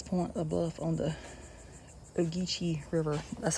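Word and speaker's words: Ogeechee: more important than the deep water of the oichi river which if left unprotected could bring un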